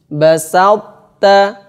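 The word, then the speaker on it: بسطت: Sehingga to-nya masih kelihatan, masih tidak hilang secara sempurna. Bacanya begini. Basalta, basalta, basalta. Basalt, ini to, basalta, basalta, basalt itu to-nya masih ada, sifatnya menempel.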